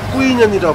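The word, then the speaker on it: Quy Nhơn: 퀴눈의 현지 발음은 북부 발음으로는 꾸이년이라 불리고 남부 발음으로는 위녕이라고 불리우는 곳인데요.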